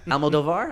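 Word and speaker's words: Almodóvar: Okay, so How do you guys, pronounce his name? Almodovar, I believe.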